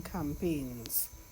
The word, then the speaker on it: campaigns: see M Pei G the G is silent alright does not come Pickens alright you don't hear the G at all to help eradicate this